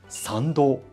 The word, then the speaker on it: 参道: The path to the main shrine, which one walks after passing through the torii gate, is called Sando, which is pronounced exactly the same as Sando, birth canal.